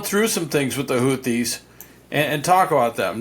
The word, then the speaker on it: Houthi: Now, who are the Houthies? Well, the the uh the leader of the Houthis, his name is Houthi or Houthi as they like to pronounce it.